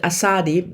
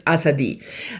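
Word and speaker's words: Azadi: The last time I pronounced it Assadi, but obviously that is not the way you pronounce this udu word. It's Asadi um it means freedom and it's about fascism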